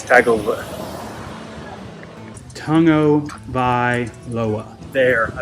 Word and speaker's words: Tagovailoa: game against the Alabama Crimson Tide and Tua Tagovailoa. I know how to say it. It's Tagovailoa.